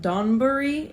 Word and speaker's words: donburi: So that is a dish, and it's pronounced like donburi.